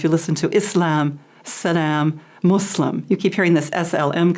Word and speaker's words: Muslim: we have so many different pronunciations, but the most correct is Islam and Muslim.